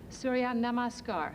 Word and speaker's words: Surya Namaskar: Can you pronounce that for me? All right? Surya Namaskar.